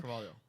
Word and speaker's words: Carvalho: It's not really an EO on the end, but it's like HO, and it's a thing. Carvalho.